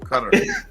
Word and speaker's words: Qatar: cup in qatar or how do you say it wait cut cutter better yeah put that tongue in it so you know cutter all right this article